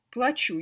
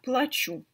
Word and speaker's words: плачу: платить заплатить оплатить но интересно именно плачу я плачу потому что если вы поменяете ударение то он превратится в другой глагол я плачу и это совсем другое значение 2 разных глагола я плачу я плачу разница только в ударении и так например я